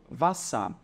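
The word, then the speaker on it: Wasser: consoante duas vezes e elas servem apenas para fazer com que a vogal que antecede seja pronunciada de maneira curta Ou seja é um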